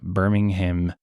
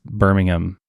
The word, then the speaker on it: Birmingham: but I think it's Birmingham Birmingham no like Alabama I think it's I think it's Birmingham Birmingham yeah they don't like you don't pronounce the h like ham if I was like